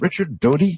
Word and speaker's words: Richard Doty: And I want to make sure that I've got your name, I'm pronouncing your name correctly. Is it Richard Doty? Yeah, that's correct. That is correct.